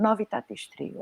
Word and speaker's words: Novitatis Trio: Eu pronuncio bem o nome, Novitatis Trio, é assim? Sim.